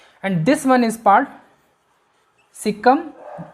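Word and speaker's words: caecum: This one is part Sikkim, जिसको कई लोगों की प्रोनाउंसिएशन होती है केशियम भी होती है, और इसके नीचे एक थ्रेड लाइक स्ट्रक्चर होती है जिसको हम क्या बोलते हैं, अपेंडिक्स।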